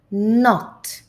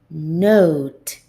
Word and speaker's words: note: well here I have not not but note note so this is the letter O and when I have the silent e at the end I say o note so repeat not note